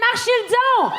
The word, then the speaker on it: Marchildon: Fait que, s'il vous plaît, faites énormément de bruit pour Olivier Marchildon!